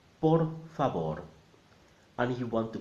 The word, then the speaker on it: por favor: the vowel sound and the V is a B so together por favor and if you want